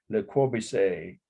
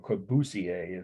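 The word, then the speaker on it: Le Corbusier: do a formal analysis Le Corby say or kobusier is how somebody pronounce it Villa Savoy it's the second one down on the list for week 15.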